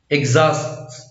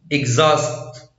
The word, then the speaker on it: exhaust: لا ينطق إذا جاء قبله تركيب إي إكس exhaust exhaust exhibit exhibit exhibition exhibition.